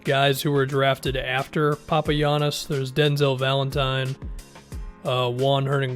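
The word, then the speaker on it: Papagiannis: in 2016 you're just Papa Yanis because apparently the G is pronounced like a y according to basketball reference he played in the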